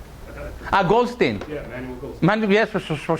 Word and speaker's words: Goldstein: Goldstein. Yeah, Manuel Goldstein. Yes, for sure. Sorry, because I'm Israeli, so I guess Goldstein. But you're right. It is the way you pronounce in English.